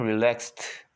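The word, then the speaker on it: relaxed: t 발음이 난다는 거였어요 그래서 relax d가 아니라 릴렉스 트였어요 발음이 신기하죠 그래서 저는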